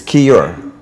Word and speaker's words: Keyur: crazy the today we our special guest is key or from camp b XCOM did I pronounce it right okay great welcome it's Kira okay you're okay you're okay it's not spelled